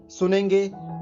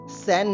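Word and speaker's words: 三: Apple and for Nepal इसको बोलेंगे सन ठीक है सेंड नहीं बोलना इसको सन बोला जाएगा जो हमारा सूर्य वाला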